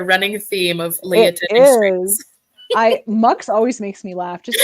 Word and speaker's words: Mx: it mix chist so MX salad Caesar it's pronounced MX and it's the gender neutral of Miss Mrs